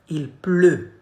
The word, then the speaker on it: pleut: Il pleut. Not U, okay?